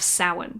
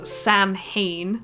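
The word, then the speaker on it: Samhain: the old Celtic Pagan Festival of sin commonly mispronounced in TV shows as Sam Hayne uh if I'm right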